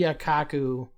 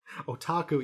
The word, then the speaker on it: otaku: oh what is the yakaku what's the word again otaku you're saying it wrong so many times it's me up now oh otaku all